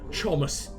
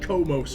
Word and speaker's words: Chomus: Make our way to Chomus. It's definitely pronounced Chomus, not like Komos or anything like that.